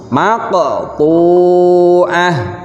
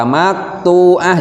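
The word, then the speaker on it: مقطوعة: Cara membacanya harus dipantulkan. Jadi cara membacanya maqtu'ah. Jangan dibaca maqtu'ah, jangan, tapi harus qalqalah, harus dipantulkan. Maqtu'ah.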